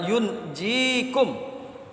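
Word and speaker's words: يُنْجِيكُم: Dibaca dengan takhfif, maka bunyinya adalah yunjikum. Sedangkan jika dibaca dengan tasdid, yunajjikum.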